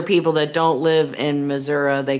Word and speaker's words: Missouri: that don't live in missouri they call it missouri the great state of missouri you gotta extend that a longer that a-u-o sound i kind of wonder